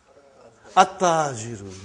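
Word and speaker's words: التاجر: Compare that to Ta. We come to Ta now. How will you pronounce this now? At-Tajiru. You did not pronounce Al. You did not pronounce Lam. Okay, you did not pronounce. You skipped it.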